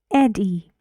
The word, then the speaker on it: Eddie: syllable good bread bread Eddie it's a name Eddie Eddie to good and the stress goes on the first syllable Eddie and one air